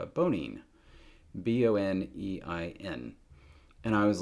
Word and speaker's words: Bonine: And so there is this medicine I used to take for motion sickness called Bonein, B-O-N-E-I-N. And I was like, hey, it's pronounced exactly the same as boning, Boning.